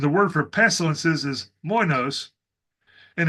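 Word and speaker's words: λοιμός: The word for famine is minos, and the word for pestilences is moinos. And in modern Greek, they're actually both pronounced the same.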